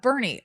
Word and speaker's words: Boerne: Yeah, Bernie. I mean, again, it's spelled born. Sounds like Ernie. And it's Bernie.